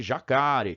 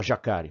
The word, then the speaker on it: jacaré: aconteceu na palavra jacare se eu não acentuasse na língua portuguesa a pronúncia deveria ser jacareí continuar com o jacareí jacareí jacareí e por aí vai mas a gente sabe que não é assim que a gente foram cia ninguém fala jacaré nós falamos jacaré para